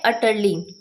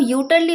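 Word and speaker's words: utterly: अगला वर्ड है अटरली। इसको आप यूटर्ली मत बोल दीजिएगा। यहां पे जो यू लिखा है उसे हम अ प्रोनाउंस करते हैं। तो करेक्ट प्रोनाउंसिएशन होती है अटर्ली।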